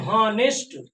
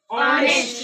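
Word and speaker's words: honest: बहुत बच्चे बोलते हैं हॉनेस्ट, बट ये रॉन्ग है। राइट क्या है? ऑनेस्ट, ऑनेस्ट, ऑनेस्ट।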